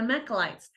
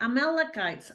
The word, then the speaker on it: Amalekites: with him and they defeated their mechlites I may be missing that but you know what I'm talking about don't you that let's see the um Mac yeah I said it right amalekites sorry amalekites I knew I was getting one of those words wrong anyway the malachites and